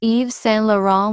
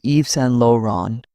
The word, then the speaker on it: Yves Saint Laurent: People often call Yves Saint Laurent with English sounds. The French pronunciation is Yves Saint Laurent.